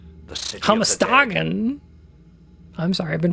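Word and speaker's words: Hammerstagen: This text explains how to get to Hammer Stagen, the city. Hamastagen. I'm sorry. I've been pronouncing it wrong the whole time.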